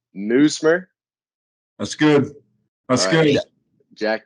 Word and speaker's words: Nuismer: And I didn't want to get the pronunciation wrong, but it's Nuismer. That's good. That's good. Jack Nuismer.